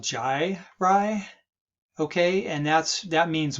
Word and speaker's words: gyri: red right here now this term right here is called jai rye okay and that's that